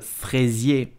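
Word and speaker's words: fraisier: I'm talking about Le fresier so how do you pronounce it correctly you will say fresie crazy did you know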